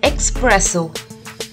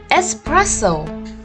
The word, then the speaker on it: espresso: we don't call it espresso the spelling might have an x in it but we call it espresso the correct pronunciation is espresso now look at these